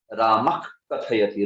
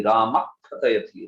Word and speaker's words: रामः कथयति: जिह्वा मूल्य में वो जो विशिष्ट उच्चारण होता है उसको करना चाहिए, जोर देके विसर्ग और क दोनों मिला के होना चाहिए वो। रामक कथयति, रामक कथयति, रामक कथयति, ऐसे, या रामक खादति, रामक खादति।